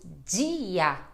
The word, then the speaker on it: dia: dado como em durante agora quando nós temos um i ou um e depois da letra D pode ter umas diferenças aí por exemplo eu falo dia bom bom dia olha só este som né de di exatamente então som de dia bom dia é isso assim como D com